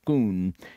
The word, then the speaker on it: Scone: was then brought to scone pronounced schoon in Scotland where for